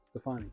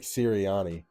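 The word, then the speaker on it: Sirianni: what I said Stefani that's not his name huh it's not his name yeah it is no it's not it's Nick serani close enough you're thinking of Kevin stefansky hey no I pronounced it wrong tomato tomato um it's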